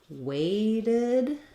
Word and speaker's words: weighted: saying something like um weighted this Ted is going to sound like the word did because this T will be a flap and then we have